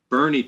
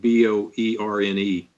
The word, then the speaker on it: Boerne: I'm actually in Boerne, Texas, and that's how we pronounce it here. It's actually spelled B-O-E-R-N-E, but in Texas, that spells Boerne.